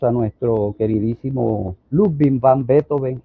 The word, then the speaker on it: Beethoven: Aquí tenemos a nuestro queridísimo Ludwig van Beethoven, o Beethoven, porque así lo decimos en español. Si lo fuésemos a pronunciar en alemán serían Beethoven, Beethoven, con una Beethoven, pero no importa, podemos decir Beethoven.